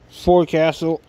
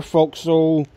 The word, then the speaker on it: forecastle: is the little bit of the forecastle or folk soul doesn't matter to me how you want to pronounce it but second block here